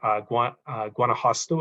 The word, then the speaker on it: Guanajuato: In fact, one of the states, Guanajuato, I believe it's pronounced, they've got, I believe, 10,000 plus people working on this in volunteer and staff capacities.